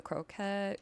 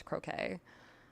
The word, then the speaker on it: croquet: We'll do the croet. Croquet. I'm gonna keep saying it wrong even though I know now it's croquet.